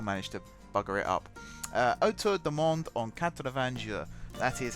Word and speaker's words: Autour du Monde en 80 Jours: Autour du Monde en 80 jours.